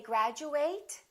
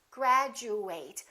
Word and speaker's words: graduate: words have at endings how do we pronounce this word do we say graduate or do we say graduate do we say at or do we say it once again it depends on what kind of word it is if it's a verb we fully pronounce eight and it kind of sounds like the number eight graduate I would like